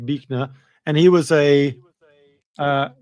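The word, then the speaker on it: Buechner: And this fell here is a guy called Frederick Bner although it's spelled Bner but uh Fred Frederick Bnner and he was a uh quite a amazing storyteller and and sermon giver.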